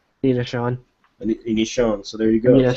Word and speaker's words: Aninacion: how do you pronounce your last name? Nina. Anishan. So there you go. Nina Sean like it's pronounced a nin. Uh Nina Sean.